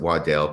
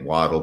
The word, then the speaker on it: Waddell: W Christopher Waddell he wants to pronounce it Waddell because pronouncing it waddle probably wouldn't be so bad prior to travel